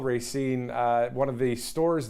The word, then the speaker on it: Racine: and Racine Wisconsin I actually had to call Racine uh one of the stores there just to find out how to pronounce the name correctly you got to get